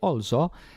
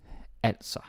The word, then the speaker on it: altså: Like if you say also, it sounds Swedish. We're not fucking Swedish. Okay, nothing wrong with Swedes, but you get the point. So it's altså.